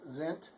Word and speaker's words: sind: S's in German are pronounced like a Z. So all of them. Always. I'm not going to say always, but nearly always. And so that's Zint.